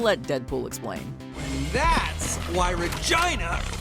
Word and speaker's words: Regina: That's why Regina rhymes with fun.